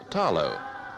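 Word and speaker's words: talo: the Samoan diet is the Tarot pronounced here with the L as tallow the carefully tended beds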